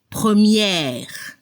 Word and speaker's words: première: Al masculino se escucha el sonido E al final, premier, y al femenino hay que abrir la boca para la pronunciación de la última E. Y se debe escuchar la última consona R, première.